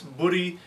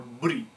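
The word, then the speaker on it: Búri: is very obscure and we're not sure if it was pronounced budy with a long u or budy with a short u um its place in the poetic meter of the myth uh suggests that there was a long u in it in order to fit the meter um so we think it was budy but there's no real consensus about that it could have been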